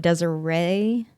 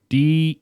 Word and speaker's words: Deseret: Are you sure this state is supposed to be pronounced Deseret, Nope. not Desiree? It's Deseret.